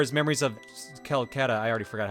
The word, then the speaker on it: Celceta: Because we got Ys 4 is Memories of Calcutta. I already forgot how to say it. Celceta.